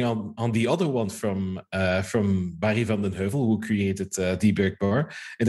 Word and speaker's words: Barry van den Heuvel: I think if you pronounce it correctly, it would be Barry. His full name, sorry. Van den Heuvel? Barry van den Heuvel.